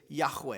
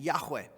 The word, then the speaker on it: Yahweh: they would what they would simply say is Yahweh it would be the pronunciation pronunciation Yahweh now in English when we look at a